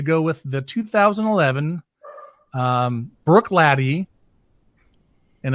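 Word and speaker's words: Bruichladdich: i've decided to go with the 2011 um brook lady and it's not spelled brook laddy that's how you say it it's way more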